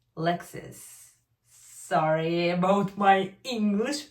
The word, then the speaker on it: Lexis: Not Lexus, Lexis.